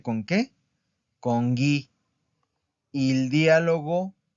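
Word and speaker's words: dialogo: Vamos con el diálogo. El diálogo. Es una palabra, también esdrújula. Porque escuchen. Diálogo. Diálogo. ¿En dónde está la sílaba tónica?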